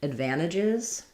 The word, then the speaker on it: advantages: So advantages or advantages is stressed on the van syllable. So my D at the beginning, like unlike in advertise, in advantage, we're going to have a schwa or an I sound there.